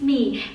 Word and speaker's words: Me: everyone, my name is Me. It's written like my in English but pronounced like me in Vietnamese.